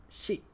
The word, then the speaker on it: ရှိ: It's pronounced sheet.